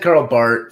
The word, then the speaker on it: Karl Barth: I said Karl Barth first because it's how it's pronounced, but then it's one of those things that if you're not a theologian, you always say Barth, and so I'm just saying it both ways.